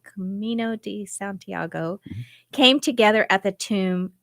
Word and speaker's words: Camino de Santiago: Pilgrim routes known as the how do you pronounce that Camino de Santiago Camino de Santiago came together at the tomb of which of